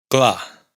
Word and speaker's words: clar: No se pronuncia en cla, claro, pero si se pronuncia en caro.